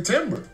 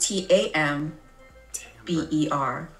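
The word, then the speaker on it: timbre: the it's the first it's pronounced t a m b e r Timber is a tree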